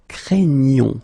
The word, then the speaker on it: craignons: it is quite tricky because you've got this GN coming right here, and then the sound is craignons, okay? You get the ñ sound, okay?